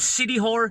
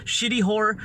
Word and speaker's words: Siquijor: Yes, they call it City Horror, Shitty Horror, depending on who you're talking to. City Horror or Shitty Horror. You know, that's how they pronounce it.